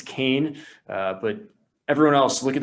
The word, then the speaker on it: Keane: It's not Keane, it's Kane.